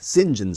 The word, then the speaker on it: St. John: John Smi or as he pronounces it here, James Singen SM.